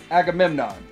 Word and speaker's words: Agamemnon: When I started seeing people get the Agamemnon, let's say, are we pronouncing that right? Okay, so I say it Agamemnon.